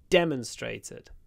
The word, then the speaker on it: demonstrated: Pro demon she demonstrated stress on the first syllable demonstrated but the noun demon